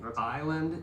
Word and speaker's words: island: Island, you do not uh pronounce the S.